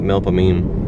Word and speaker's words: Melpomene: between like failure and melpomene that's several pronunciations but my parents used to call it melpomene daily around an hour